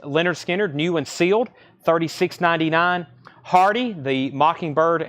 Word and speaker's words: Lynyrd Skynyrd: Hart is 29.99 transparent red vinyl Lynyrd Skynyrd pronounced Lynyrd Skynyrd new and sealed 36.99 Hardy the Mockingbird and